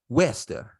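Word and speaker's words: Worcester: uh Woburn Mass Massachusetts Woburn just north of Wester which is spelled w-o-r-c-e-s-t-e-r it's spelled worser but in Mass it's pronounced Wester okay get if you ever go to Massachusetts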